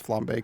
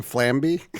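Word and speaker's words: flambé: and honestly I was I had a little bet with myself whether you were going to pronounce flambe correctly well I can pronounce it but I can't do it so I was expecting flamby flamby I almost wrote it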